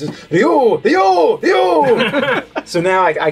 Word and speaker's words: Ryu: It's supposed to be like one syllable, and you're supposed to roll the R, so it's supposed to be like Ryu, Ryu.